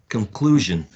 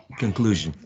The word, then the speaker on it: conclusion: conclusion conclusion in the it has three syllables and the stress in the second one conclusion right exactly exactly